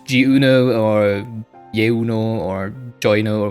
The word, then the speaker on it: Jeuno: But I think it's pronounced in French, so it would be Jeuno. Not Jeuno or Jeuno or Jeuno or whatever.